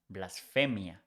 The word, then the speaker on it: blasfemia: So blasphemy is pronounced blasphemia, but the spelling is not with PH, is with F, blasphemia.